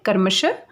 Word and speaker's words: क्रमशः: हैं विसर्ग बोलते हैं और इसकी जो ध्वनि होती है, आवाज़ होती है, वो ह की तरह आती है। आप इसे उच्चारण करके देख सकते हैं कर्मशः।